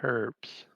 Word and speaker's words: herbs: or was he selling herbs he was selling herbs because around here the h is silent just like that famous